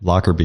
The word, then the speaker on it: Lockerbie: Because like John Smith's going to be pretty hard to find, but your last name, is it Lockerbie? Is that how you say it? Lockerbie, yeah.